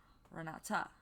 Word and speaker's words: Renata: Pronounced with an A sound at the end. Renata.